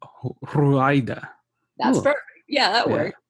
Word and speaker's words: Ruaida: So it's actually an Arabic name, but it's written in Spanish, so you have to roll your R's to say it. It's Ruaida. Ruaida.